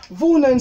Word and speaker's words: wohnen: Wohnen, ça veut dire habiter. Ich wohne, du wohnst, er wohnt, wir wohnen, ihr wohnt, sie wohnen. Avec un O un petit peu plus long au niveau de la prononciation.